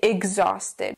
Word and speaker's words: exhausted: a g like a g sound we say exhausted the other reason why this word is difficult is because the H is silent so when you see it just ignore